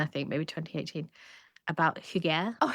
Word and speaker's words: hygge: I used to pronounce it as huggy. Well, I like that though cuz it's like, you know, it's like a hug, like cozy.